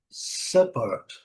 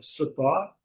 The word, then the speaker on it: support: Apesar de que eles usam como sentido de apoio, então é support. O inglês britânico não traz o R na pronúncia. Então do inglês britânico, support, o bem longo, support.